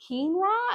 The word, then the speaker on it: quinoa: And so I just pronounced it phonetically how I saw it. Until somebody was like, "You mean quinoa?"